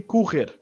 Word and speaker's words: correr: down to syllables, again, we start with ku. And what I'm going to do is I'm going to break this little R at the end here to make it stand out. So we're going to start with ku, which is like a C and a soft O.